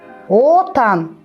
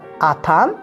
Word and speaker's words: Отан: Отан – родина. Если говорить на русский лад Атан, получится верблюд.